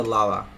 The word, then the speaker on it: lala: So it goes from ala to lala. With an a, of course, because it's stressed.